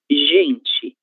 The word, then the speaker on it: gente: Porém, diante da letra E da letra I, a letra G apresenta o som J, que é o mesmo som representado pela letra J. Então, gente, gente, ok?